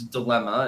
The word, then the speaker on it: dilemma: you pronounce it it's dilemma and it would sound like an M or two M's or whatever it wouldn't you wouldn't you wouldn't think there was an n in there so why would so